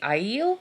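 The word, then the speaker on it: Aiel: that we know now is that how you pronounce ale I'm gonna check it because we know pronunciation is not how I think it's gonna be no it's the iel it sees in the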